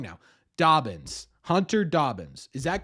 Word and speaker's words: Hunter Dobbins: can you guys hear him give me the pronunciation of Hunter Dobbins it's Hunter Dobbins that's what I've been saying how about been